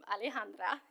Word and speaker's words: Alejandra: name probably yells um Alejandra is how you say it um and I believe